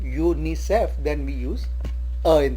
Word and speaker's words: UNICEF: A UNICEF employee, as we said earlier, when U is pronounced as YOOU, UNICEF, then we use A in the beginning.